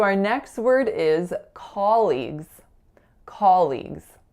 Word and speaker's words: colleagues: word is colleagues colleagues so I hear two mistakes for this word one of them is a Mis articulation and one of them is a stress air but I'll tell you about both so the articulation air that I hear is that awesomed not being low back enough so I really really often hear more of off sound hair like a colleague instead of a colleague the other thing